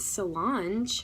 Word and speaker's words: Solange: Saint Solange, pronounced like Beyonce's sister, Solange Knowles, she took a personal vow of chastity.